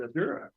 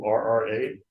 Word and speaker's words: Ardurra: And then Adura. I'm not saying it right. Ardura. I think we got a rep from Ardura here today. Ardurra.